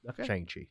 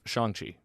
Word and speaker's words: Shang-Chi: Eternals does more for me than this Shang-Chi. That's Shang-Chi. Whatever. People say it wrong. Me and Andy have read about it, so we try to say it right.